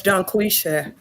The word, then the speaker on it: Dungquesha: I just saying I ain't pronounced the G at the end.